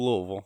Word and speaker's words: Louisville: Good old Louisville. Louisville. You got you got to say it like you have gravel in your mouth.